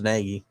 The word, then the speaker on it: Nagy: think it's matt maggie did i say his name wrong i know it's naggy charles naggy was a